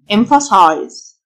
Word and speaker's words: emphasize: ال ph تنطق فيه emphasize تأكيد emphasis ال ph تنطق فيه emphasis مؤكد emphatic ال